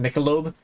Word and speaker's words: Michelob: It's pronounced Michelob.